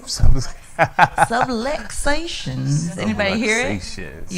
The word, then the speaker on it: subluxations: And I don't know, did you guys get to hear any of the subligations? Am I saying it right? Subluxations.